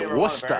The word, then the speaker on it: Worcester: Richard Greenberg, formerly of Worcester, Didn't expect. Hey, I to did the see same that. thing, to be fair. Yeah. Massachusetts. It's Worcester.